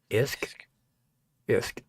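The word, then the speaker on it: Usk: To the south and east, the river Uk pronounced IHS K isk.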